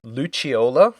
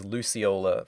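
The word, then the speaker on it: Lucciola: another Legion Enforcer, Luchiola. Yes. And I enjoyed that they went the Italian pronunciation versus Luciola from the games.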